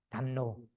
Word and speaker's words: 담론: 담론 서로 얘기한 담론 맞죠? 논이죠. 담론 리우 받침인데 업지할 이걸로 되는 니은으로 읽어요. 원래는 그 리우 받침이에요. 론인데 그 마하고라고 이걸로 되는 담론이라고 읽어요. 담론.